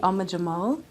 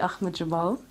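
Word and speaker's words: Ahmad Jamal: Some of my biggest influences are Betty Carter, Ella Fitzgerald I love, and then most recently Ama Jamal. Oh, wait, I'll say it properly. And most recently, Ahmed Jamal.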